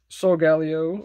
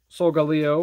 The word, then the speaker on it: Solgaleo: of course we got solgaleo or solgaleo whatever you want to pronounce i say it both ways really i'm just weird that way i mean both of them make sense so galileo and solgaleo because it's like solar leo i just call him